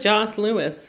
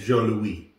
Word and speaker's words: Jos Louis: I'm gonna go with Joss Lewis. Joss Lewis? Joss. No, that's not how they say it. Jo Louis.